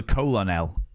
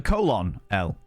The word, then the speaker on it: colonel: colonel himself yeah or the colonel if you read phonetically you know the colon L mhm don't forget about